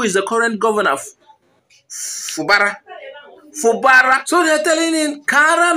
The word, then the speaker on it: Fubara: By the way, why am I calling it Fubara? Fubara. I'm using the wrong pronunciation. Fubara. No, Fubara. Fubara yamba.